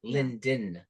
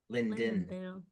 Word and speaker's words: Linden: sound it out Lon like he just cut out the D part like L Lind like lindville no it's Linden Linden say it again for